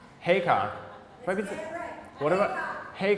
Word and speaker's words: Heacock: His name is pronounced Heacock.